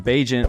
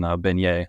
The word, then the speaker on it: Bagent: Tyson Bagent, welcome to the quarterback room. I'm saying it right, Tyson Bagent, right? Perfect. Yeah, you're one of the only people to say it right.